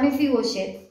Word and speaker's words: Mefiboset: quién era mefiboset y la palabra mefiboset en el hebreo así se escribe tal cual mefiboset con una sh intermedia mefiboset o mefiboset viene de el strong